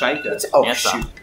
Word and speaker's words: Sheikah: It's pronounced Sheikah.